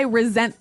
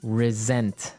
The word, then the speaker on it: resent: Well, Anthony said, I resent that. Resent. Resent. Okay, now this is spelled exactly like resent, like with an S, right? That's right. R-E-S-E-N-T. But you pronounce it like a Z.